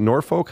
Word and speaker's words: Norfolk: He came from, is it Norfolk?